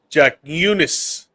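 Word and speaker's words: Jakučionis: All right, I'm gonna try and pronounce it. Ready? All right, Kasparas, Okay. Jack Eunice.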